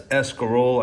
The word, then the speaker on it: escarole: italian thank god so i pronounce things that god intended it to be pronounced and that's escarole i pronounce the value for the the vowels at the end so you're going to